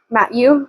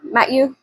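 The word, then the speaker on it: Mathieu: It's It's like Matthew, but it's M A T H I EU. So, it's like Matt Matthew Matthew Matthew.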